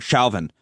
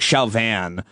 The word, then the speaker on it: Chauvin: I got to pick a pronunciation. Derek Chauvin. Derek Chauvin. That's how I'm going to say it, not Chauvin. Who the hell is he? Some kind of French aristocrat?